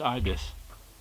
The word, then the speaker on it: Ibis: Ibis and even tells you the pronunciation there pronounced Ibis then we got some cowboy stuff spy Smasher